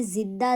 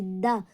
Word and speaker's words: زندہ: کے بعد زندہ ہونا۔ تو یہاں پہ زندہ زا ہے، ہمیں جا کا استعمال نہیں کرنا، کوئی جا کا استعمال کرتے ہیں یعنی زندہ، تو یہ سراسر غلط